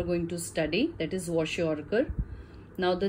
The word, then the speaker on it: kwashiorkor: to study, that is kwashiorkor. Now the name is little different and difficult because it's not very commonly heard name, and K is silent when you pronounce, but you'll have to spell it out.